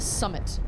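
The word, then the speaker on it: summat: Hagrid also says summit instead of something. Like when he first meets the Dursleys, he's like, I'll take Summit Stronger. He wants a drink. But it's spelled out Summit. S-U-M-M-A-T. Summit.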